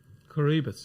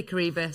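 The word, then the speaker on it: Coroebus: How are you pronouncing it, by the way? Coribus. Yeah, I say Coribus.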